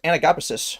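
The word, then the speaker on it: anagapesis: I looked up how to pronounce the word. It's pronounced anagopysis.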